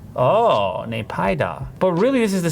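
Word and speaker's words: Naypyidaw: How do I pronounce the capital of Myanmar? Nay-pye-da. In the pronunciation closer to Nay-pye-da. Oh, Nay-pye-da.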